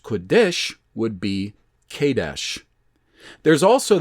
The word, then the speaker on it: Kadesh: For instance, uppercase PRT, pronounced Perit, would be Euphrates, or uppercase Q, lowercase u, uppercase DS, lowercase h, pronounced Kodesh, would be Kadesh.